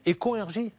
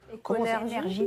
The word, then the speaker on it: Éconergie: Nos amis de Econ RJ, mais comment vous prononcez ça ? E-C-O-N-R-G-I. Econ RJ ? Éconergie.